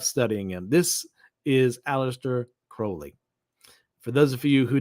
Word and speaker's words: Crowley: why I bring up Aleister Crowley and it's pronounced Crowley and not Crowley from what I remember correctly is that at